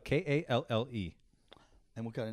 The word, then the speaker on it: Kalle: How did you say it? Well, Kale. You say Kale? It's like Kalle. I can't even say it. It's too Viking for me Oh, to pronounce.